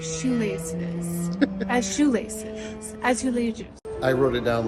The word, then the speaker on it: azulejos: Azulations. Azulations. Is that right? I think it's azulejos. It like sounds like Azulations. Azulations. Azulejos. I was thinking of like shoelaces. As shoelaces. Azulejos.